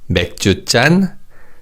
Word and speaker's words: 맥주잔: the different sounds, but with 맥주 and soju, 잔 is pronounced as 짠 because of the 치읓 in the preceding syllable 주. However, with wine, 잔 is just pronounced as 잔. So it's 맥주잔, 소주잔, and 와인잔.